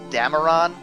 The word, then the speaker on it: Dameron: We have what looks like to be the rebel leader, or one of the big rebel characters, which is Poe Dameron. I think is how you pronounce that.